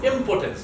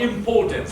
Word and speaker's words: impotence: It's impotence, not impotence, all right?